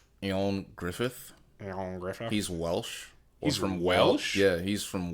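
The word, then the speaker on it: Ioan Gruffudd: never been able to pronounce it it's actually pronounced Aon Griffith Griffith he's Welsh or from wsh yeah he's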